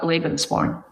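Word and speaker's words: Lebensborn: chose to illuminate the Lebanspawn maternity homes. Is is it Lebanspawn or Lebanspawn? I actually call it Levenspawn.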